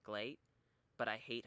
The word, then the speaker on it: GLEAT: say GLEAT wrong, because it's supposed to be pronounced great, but you replace the R with the L, so it's like GLEAT, but I hate how that sounds.